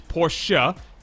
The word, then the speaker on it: Porsche: I think we're going to have to correct your pronunciation there. First, it's Porsche.